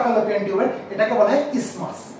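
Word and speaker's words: isthmus: এই যে অংশটা ফ্যালোপিয়ান টিউবের এটাকে বলা হয় ইসমাস, কি বলা হয় কান করে শোনো, ইসমাস, বানানটা কিন্তু ইস্থমাস মনে হবে, আই এস টি এইচ এম ইউ এস, কিন্তু উচ্চারণটা ইস্থমাস না, উচ্চারণটা হচ্ছে ইসমাস।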